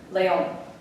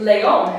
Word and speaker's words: león: But because it ends in the letter N, but the tonic syllable is here, does it break a rule? Does it break the rule? Yes, because the tonic syllable should have been here for it being a llana word, but the tonic syllable is here. It breaks the rule for llana words, therefore it gets an accent mark.